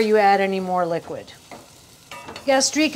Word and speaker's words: gastrique: add any more liquid gastrique is a snooty term but it kind of sounds like that flavor you gastrique gastrique it's sweet and vinegar gastrique it's finished works phonetically but don't use it because